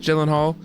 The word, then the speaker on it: Gyllenhaal: Gillhal. Is it Is it jockey golional? Yeah. Yeah. Jockey. Exactly. Exactly. I pronounced that. The correct answer which only three people got is Jake Gyllenhaal, Harry Styles, Tom Hiddston, and Travis Kelce.